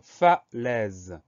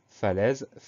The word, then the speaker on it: falaise: Première syllabe, fa, F-A, pas de surprise. Deuxième syllabe, les, attention, le son est s'écrit A-I. C'est une des possibilités pour écrire le son est, et dans ce mot-là, c'est bien le cas, c'est A-I.